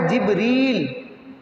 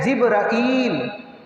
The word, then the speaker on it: جبریل: اور تینوں درست ہیں۔ اس نام کا ایک تلفظ ہے جبریل، ایک ہے جبرائیل، اور تیسرا تلفظ ہے جبرائیل الف کے ساتھ، جبریل، جبرائیل، جبرائیل۔ تو اس فرشتے نے